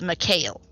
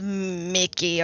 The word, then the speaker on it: Mikhail: goes Mikhail I believe I believe in common it is pronounced Mikhail Mikhail Mikhail okay thank you no not Mickey or Mikey or no Mikhail just hear Liliana just